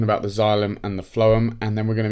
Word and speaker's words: phloem: Now, the phloem, and it's spelled like this, phloem.